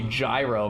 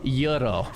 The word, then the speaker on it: gyro: We can't even just say gyro, man. Euro is the correct pronunciation." No, no, no. People like accent shame me cuz you're supposed to say like yuro or something.